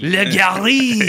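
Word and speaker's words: Legarie: Legari.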